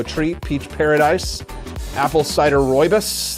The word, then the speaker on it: rooibos: You can try our mango treat, peach paradise, apple cider rooibos. That's how you pronounce that. I had to learn that.